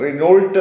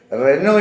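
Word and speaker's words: Renault: കൊണ്ടാണ് ഉച്ചാരണത്തിന് ബസ് വരുന്നത് റിനോൾട്ട് എന്ന് പറയും അത് റിനോൾട്ട് റിനോൾട്ട് മോട്ടോഴ്സ് എന്ന് പറയും റിനോൾട്ട് മോട്ടോഴ്സ് എന്നല്ല അത് പറയേണ്ടത് അത് പറയേണ്ടത് റെനോ എന്നാണ് പറയേണ്ടത് റെനോ അത്രയും പറഞ്ഞാൽ മതിയാകും റെനോ എന്ന് പറയുന്നതാണ് അതിന്റെ കറക്റ്റ് ആയിട്ടുള്ള ഉച്ചാരണം അപ്പൊ ഈ അതേപോലെ തന്നെ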